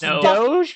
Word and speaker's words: Doge: Doge it's do you're it's Doge because there was a song about it and in that song they pronounce it Doge so I'm gonna always